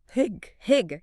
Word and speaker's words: hygge: Hygge, yeah. How do you pronounce that?